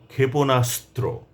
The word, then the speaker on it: ক্ষেপণাস্ত্র: ক্ষেপণাস্ত্র মারণাস্ত্র অস্ত্রপচার অস্ত্র নিক্ষেপ অস্ত্রশস্ত্র অস্ত্রত্যাগ অস্ত্রাগার অস্ত্রাহত অস্ত্রাঘাত অস্ত্রবৃষ্টি এমন করে আমাদেরকে উচ্চারণ করতে হবে যুক্ত বর্ণে অবশ্যই চাপ দিয়ে উচ্চারণ করতে হবে তাহলে শব্দটিরউচ উচ্চারণ স্পষ্ট হবে এবং শুনতে কানে ভালো লাগবে।